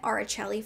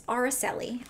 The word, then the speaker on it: Araceli: it right this time i was calling it aricelli for the longest time but it's spanish not italian it's araceli okay my apologies to